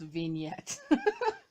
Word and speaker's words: vignette: Megan, if you watch it, it's pronounced vignette.